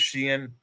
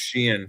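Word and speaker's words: Siân: The English or maybe not English, but the Welsh version is Sheehan, Sian, and it's got like an accent. There's like 2 dots over the I and like a triangle over the A, and it's Chrissy- pronounced Sheehan Phillips.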